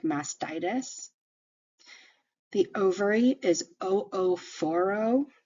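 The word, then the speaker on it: oophoro: mastitis the ovary is o4o you do pronounce both of those O's so o4o so if you were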